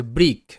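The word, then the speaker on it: brick: আচ্ছা, তো ফার্স্ট শব্দ যেমন হচ্ছে ব্রিক, বি আর আই সি কে, ব্রিক।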